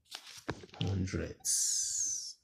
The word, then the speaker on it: hundreds: It's approximately 26.527 to the nearest hundreds. Notice my pronunciation, hundreds. That sound at the end.